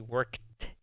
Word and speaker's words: worked: Si tratas de pronunciar una D después de la K de kilo, es muy difícil. He worked. Si tratas, suena como una T. Pero eso está bien. Esa es la pronunciación correcta.